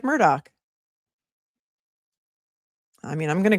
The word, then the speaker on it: Murdaugh: Mimon Nancy says, "Alec Murdoch says he says it like Murdoch."